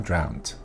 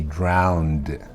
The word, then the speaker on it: drowned: a d not a strong D but it's not a t it is not drowned she drowned while swimming in the pool nope she drowned drowned it's definitely a d round can you hear the D drowned the next one